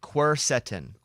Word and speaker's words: quercetin: The other one's pronounced quercetin.